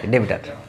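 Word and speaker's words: debtor: ডেবিটার ডেবিটার ঠিক আছে ডেবিটার মানে উচ্চারণটা এরকমই হবে ডেবিটার তাহলে যে টাকা দিচ্ছে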